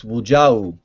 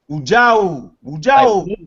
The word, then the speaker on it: Wujau: It's Wujau. Wujau. Like Wu-Tang, and then Ja, and then U.